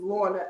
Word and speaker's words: Lorna: It's Lorna, Launa. Most people back in the day would call her Lorna, like the cookie.